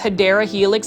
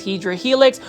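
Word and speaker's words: Hedera helix: And for those that are new to the channel, we do mispronounce hyera helix as hedra helix.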